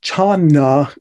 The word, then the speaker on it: jhāna: In China, jhana gets pronounced chana and shortened to chan.